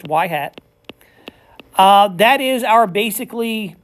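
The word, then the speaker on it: y-hat: Um and it is and then that's actually pronounced as Yhat. The Y with the little hat on there, it's pronounced Yhat.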